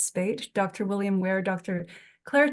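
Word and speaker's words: Speight: Nigel Spate, I have trouble pronouncing his name, but it's Spate.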